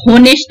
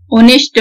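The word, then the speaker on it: honest: आव, hair, honourable ना कि होनरेबल, हम लोग चलो बोलचाल भाषा में तो बोल देते हैं ना कि होनरेबल पर्सन, होनेस्ट मैन, लेकिन ये सब गलत है। Honourable person, ऑनेस्ट man, honorary पोस्ट, ये सब होता है क्योंकि यहाँ पे हर जगह आपका एच साइलेंट रहेगा और एच जो साइलेंट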